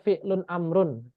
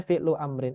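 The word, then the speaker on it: فعل أمر: Iya, Oh, karena nanti takut dikhawatirkan fi'lun amrun. Nggak bisa, karena di sini adalah masdar dan masdar nggak bisa jadi sifat. Maka dibacanya fi'lu amrin.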